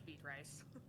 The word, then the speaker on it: Beatrice: pronounce it but um it's beet rice the sign looks like beatrice so to all of our fans in b tribes nebraska you're pronouncing it wrong seriously i feel like